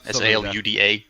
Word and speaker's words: Saluda: was at Salida, or Saluda, Saluda. Yes. Some of the locals pronounce it Salida for reasons which escape me.